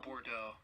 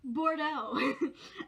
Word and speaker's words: Bordeaux: Bordeaux. That's not how you pronounce it. That's like French. What the fuck? Hold up. It is French. Okay, Bordeaux. I should know these things.